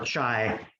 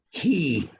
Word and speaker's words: chi: pronounces it Chi or Chai, and that's wrong. It's not pronounced like that. It's pronounced he, like he is a man.